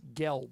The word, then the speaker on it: Gelbs: I think it's pronounced Gelps. Gelp. It looks like Gelbs. It has an S on the end.